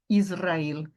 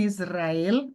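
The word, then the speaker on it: ישראל: em seguida você tem Israel tá Israel tá bom não é Israel é Israel Israel temos aqui então a tônica tá onde No el perceba se eu falar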